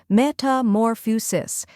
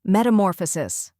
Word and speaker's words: metamorphosis: the TA in sofa then comes more which is stressed and rhymes with or after that we have